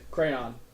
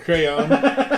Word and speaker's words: crayon: Crayon. The right way. Crayon. He says it like it's spelled. It's not CRANS.